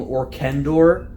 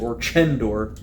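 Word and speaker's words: Orchendor: curious about what I'm so tempted to call him orkendor because it sounds so much more fantasy but I guess they've pronounced it or gender I'm curious as to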